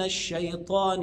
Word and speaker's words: الشيطان: اعوذ بالله من الشيطان خد بالك من الش هنا يعني صفه اسمها صفه التفشي او الانتشار اللي هي خاصه بالشين فيها هواء اعوذ بالله من الشيطان الرجيم وانطق جيم فصيحه بعد